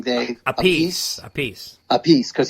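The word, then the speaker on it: Appice: how do you say his last name Dave a piece a piece a piece because he was the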